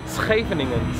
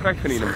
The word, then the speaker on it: Scheveningen: We are at Scheveningen, okay? Pronounce that. What's it? Scheveningen. Scheveningen. Yeah, Scheveningen. How do you spell it? Scheveningen. Scheveningen. S-C-H-E-V-I-N-G-E-N. Oh. Is that right? Scheveningen. Nailed it.